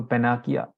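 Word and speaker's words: panacea: तो इसको पेनासिया बोलते हैं, पेनाकिया, पेनाकिया, सभी रोगों की एक दवा। ठीक है, रामबाण हिंदी में कहते हैं हम। तो पेनाकिया इसका प्रोनाउंसिएशन है, it cure all disease, solve all problems, universal remedy.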